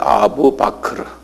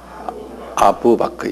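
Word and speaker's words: أبو بكر: 아부 바크르라는 사람이 이분이 이 모하멧의 아주 오른팔 했던 사람인데 아부 바크르 한번 발음해 보실래요? 아부 바크르. 아부 바크르 1대 칼리프예요.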